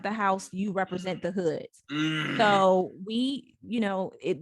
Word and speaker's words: Hud: day are they the hoods your hood your parents yeah so I'm a So Hood is HUD is my last name it's pronounced h-o-od it's Arabic for h-o-od but there are foods